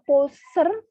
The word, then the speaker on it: poser: Nah, S berantara bunyi O dan E, berarti S termasuk kata yang dilafalkan Z.